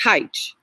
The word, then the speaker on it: Hytche: Again, phonetically, every one is a Hytche. And I'm sure many of you who carry the name like I do, you got to tell people how to say it. But it's Hytche. But Hitchye was George Papa's spelling.